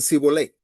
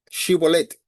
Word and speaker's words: Shibolet: Shibolet dice que incapaces de pronunciar la la sh por su dialecto decían si volé lo que lo dilataba y al instante dice que provocaban su muerte inmediata.